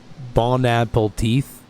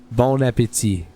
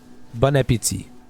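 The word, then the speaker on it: bon appétit: Some people actually think it's pronounced like bon apple teeth or something like that, apparently. It's weird. Bon apple tea. Yeah, or that. Bon appetit. Bon appetit. That's how we say it.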